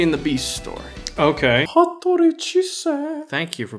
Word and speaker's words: Hattori Chise: Hattori Chise. Thank you for pronouncing that for me.